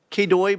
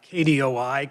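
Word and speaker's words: KDOI: first off you like kooy better than kid well I would say I like K dooi kind of like FBI or kbi you know so that it'll be uh letter driven not phonetically driven gotcha um thank you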